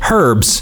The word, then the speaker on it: herbs: neutral zone i'd say herbs british pronunciation is with h american is without oh god did i